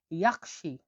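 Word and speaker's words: yaxshi: তাহলে এখানে এইচটা ক্ষয় উচ্চারণ হবে, তাহলে কি উচ্চারণ হলো? রাহমাত। রাহমাত মানে হলো ধন্যবাদ। ভালোকে উজবেকে বলা হয় ইয়াকশি।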